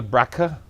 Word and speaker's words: Brakha: Just call us and ask us about this show we had with Gabriel Brakha. That's the correct pronunciation, right?